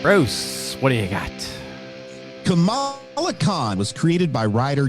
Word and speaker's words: Kamala: the way even even Kamala Harris goes back and forth on her own pronunciation okay well the the comic book character it's been established as Kamala not Kamala but I just can't